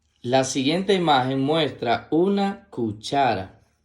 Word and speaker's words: cuchara: La siguiente imagen muestra una cuchara. La palabra cuchara se escribe con C-U, que suena Q, C-H-A, que suena cha, R-A, que suena ra. Cuchara, cuchara.